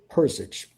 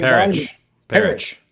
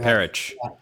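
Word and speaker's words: Perich: Koi Persich, most people didn't know anything. Perish. Okay. Perish. I probably mispronounced.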